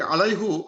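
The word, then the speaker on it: عَلَيْهِ: So they say no, don't say আলাইহু, বাট সে আলাইহি, same thing. বাস এই আলার জন্য উচ্চারণ সুবিধার্থে দে কল ইট আলাইহি। সো আমরা আলাইহু না বলে বলবো আলাইহি।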